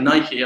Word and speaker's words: Nike: Nike launched Nike ID sorry Nike I've got to say it like an American it's not a Brit uh launched their platform